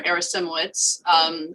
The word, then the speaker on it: Arasimowicz: My name is Arasimowicz, spelled differently, but pronounced the same.